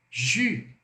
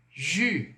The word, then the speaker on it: jus: O S é mudo, hein? Não pronuncie. Vai ficar jus, jus, suco. J. Só que nesse J você põe o biquinho. Jus, jus.